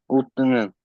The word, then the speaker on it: 웃는: It's 웃, Utnen.